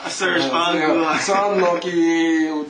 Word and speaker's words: Serge Angrand: Pronounce it correctly? Serge Angla. Serge Angla.